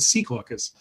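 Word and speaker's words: Secaucus: in c caucus and you can tell it's true because i called it sea caucus um people pronounce it somewhat differently these days but i think that's how the locals the locals still like to pronounce it so um it's it's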